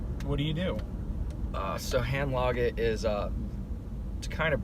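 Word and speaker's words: Handlaget: hand log it like I kind of say like think of like lager beer and pronounce the a is that one hand okay what is it what do you do so hand log it is a to kind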